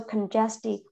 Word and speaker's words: congestive: tells you to pronounce so it's congested yet G is not like um guest or something like that okay so congestive heart and the fell